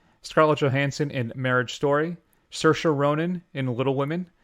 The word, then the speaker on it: Saoirse: Johansson in Marriage Story, Saoirse Ronan in Little Women. You know, actually I pronounced her Sirius.